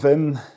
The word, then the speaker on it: Wim: We got to uh Wim Vim. He replied with his proper pronunciation.